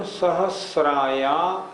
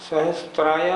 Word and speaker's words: सहस्राया: उच्चारण फिर एक बार देखें। प्रथमो योजन सहस्राया, सहस्त्राया नहीं, सहस्रायामस्तदर्ध विष्कंभो हृदः।